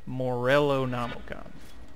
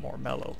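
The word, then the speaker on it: Morellonomicon: even what it says is that even house pronounced morello nomicon not more mellow more rather we just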